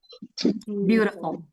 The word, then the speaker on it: beautiful: U-nya yang seharusnya pendek jadi panjang. Beautiful.